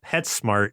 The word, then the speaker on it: PetSmart: This is like how I feel about PetSmart. Do you know PetSmart? Do you have PetSmart over there? You say it like pets and then mart, but it's actually pet smart.